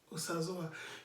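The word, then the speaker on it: Osazuwa: The diacritic is what determines you to see where they are written O-S-A-Z-U-W-A, Osazoa. You quickly check, there's no diacritic under the letter O, so I should pronounce it as Osazoa.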